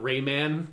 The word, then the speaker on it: Rayman: think that would happen i love that you pronounce it raymond not rayman what did i the